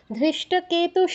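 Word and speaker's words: ধৃষ্টকেতু: প্রথম আট অক্ষর বলবে ধৃষ্ট কেতুস চেকিতানক ধৃতে কেন দীর্ঘ করছো ন তে কেন দীর্ঘ করছো এখানে কি দীর্ঘস্বর আছে ধৃষ্ট কেতু শুধু কে তে দীর্ঘ চেতে দীর্ঘ তাতে দীর্ঘ আবার বলো তাহলে অরিজিত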